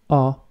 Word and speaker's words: ho: So the word O is pronounced like the letter O.